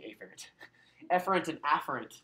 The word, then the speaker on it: efferent: And the reason why I pronounce it like that, you guys, is that it just makes it to sound more distinct. Technically, you'd say efferent, right? But efferent and afferent, right?